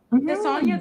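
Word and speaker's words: Tessonja: Tessania.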